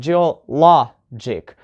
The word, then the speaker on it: geologic: look at the examples geologic first so the penultimate syllable here is law the last one is dick right and the penultimate is law so you put the stress on jewel law jig right geograph fake and